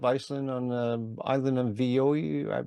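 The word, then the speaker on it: Viðey: the coast of Iceland on the island of Vioi? I'm not sure if I'm pronouncing that right. Reykjavik, yeah, it's in Reykjavik on the island of Viday, and it was originally a little piece in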